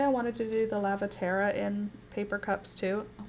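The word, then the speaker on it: Lavatera: But I want to call it that because that's what it looks like when I think about the word. Lavertia. It's Lavaterra. L-A-V-A-T-E-R-A. There's no Lavertia in there.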